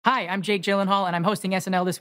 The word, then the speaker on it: Gyllenhaal: Hi, I'm Jake Gyllenhaal, and I'm hosting SNL this week with Camila Cabello. No, Gyllenhaal. Your name is pronounced Gyllenhaal.